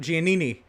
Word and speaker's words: Giannini: in just a moment how about robert giannini uh that is the pronunciation i have been corrected for his name robert giannini in that mahindra tractor's